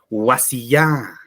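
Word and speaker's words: wasiyá: Entonces, en este caso, vamos a encontrar tildaciones y al tildar se convierten en palabras agudas porque allí está la mayor fuerza de voz, ¿no? Mucha diferencia con las palabras.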